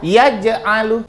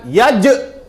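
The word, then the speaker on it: يجعل: Itu contohnya ada satu yaj'alu. Jadi bukan yaj yaj bukan. Jadi bacanya tipis.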